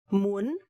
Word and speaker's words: muốn: Okay, so this rhyme is a little bit hard because you have to bend your voice a little bit. Muốn. The rhyme is uốn, uốn, u-o-n, uốn, u-o-n, u-o-n, uốn, muốn, muốn.